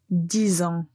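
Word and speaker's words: dix ans: vous allez entendre la liaison, donc les nombres 6 et 10 vont être prononcés avec un Z à la fin.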